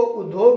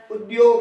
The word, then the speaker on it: उद्योग: इस उद्योग में ज्यादातर इसका जो उच्चारण है वो गलत होता है, इसको उद्योग नहीं पढ़ना है, उद्योग है, द और य इसकी ध्वनि आती है, आधा द होता है आधा य होता है, उद्योग, तो ये शब्द नया बन जाता है।